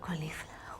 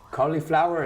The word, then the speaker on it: cauliflower: do you say this it's not qualify cauliflower is cauliflower another right okay okay